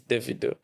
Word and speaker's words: Davido: Some call it Davido. Because I was seeing online, someone was calling him David and he was saying he is Davido.